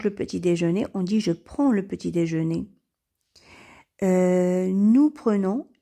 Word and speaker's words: prends: met les terminaisons suivantes et ça nous donne je prends alors le DS ou le prononce pas on dit je prends tu prends